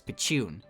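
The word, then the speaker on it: ピチューン: The sound effect's onomatopoeia is pronounced as pichun, and both the sound effect and word are used and referenced a lot.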